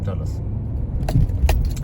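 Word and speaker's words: Dulles: Well, among others, D U L L E S Dis people pronounce it pronounce those names. Dulus, you can look into it.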